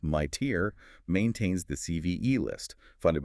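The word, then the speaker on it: MITRE: The IDA Corporation, pronounced my tier, maintains the CVE list, funded by DHS and CISA.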